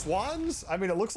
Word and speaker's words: Schwan's: It's pronounced Swans.